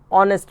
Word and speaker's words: honest: Similarly, sometime a word may start with a consonant letter but with a vowel sound because the first consonant is silent. Example, an honest man.